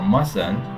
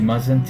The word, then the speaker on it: mustn't: start with vowel so we don't pronounce the T in must or mustn't when the next word start with consonant you mustn't be late